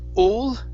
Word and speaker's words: all: Right here, instead of all, okay, open your mouth up. This is an ah sound.